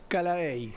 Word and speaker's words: Callaey: una vez más, ¿tu apellido cómo se pronuncia? Calaey.